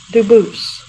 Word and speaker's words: Dubus: spelling in America, and they do pronounce it Dubus, but you said you pronounce it Dubus, Dubus? as the original Dubus, as the original French. Yep. Very well, Dubus.